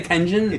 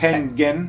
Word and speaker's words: Tengen: I used to say Tengen, but it's Tengen. It's Tengen. Tengen.